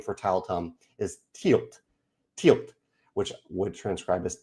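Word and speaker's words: Tielt: The proper and current name for Tileum is Tilt."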